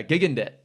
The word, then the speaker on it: Gigandet: yeah Cam Gigandet yeah Gigandet that's how you pronounce it yeah oh oh classic